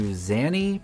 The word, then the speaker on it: Xanny: In today's video, we're going to react to Xanny by Billie Eilish. I'm assuming the X is pronounced as a Z.